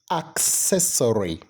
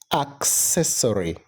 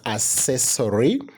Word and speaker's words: accessory: first the correct pronunciation of that word is accessory accessory many people would pronounce it as accessory all right but the correct pronunciation is accessory those kind of beautiful beautiful products that you